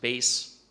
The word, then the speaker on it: bass: couple examples of this the word bass can be a fish or it can be pronounced base and in music me in the deep low end as in the bass clef versus treble clef